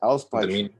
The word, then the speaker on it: Auspeitschen: Auspeitschen.